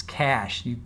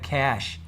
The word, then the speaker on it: cache: Oh, and then Brennan got up and he mispronounced cache. It's cache. You have cache, which just means it's a way of storing. Your browser stores your information, your passwords, your browser history. It's cache. It's not cache.